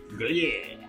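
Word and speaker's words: Gruyère: How do you pronounce it, Josh? Gruyere.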